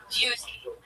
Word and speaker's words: duty: It is pronounced It is pronounced um with a liquid U. Duty.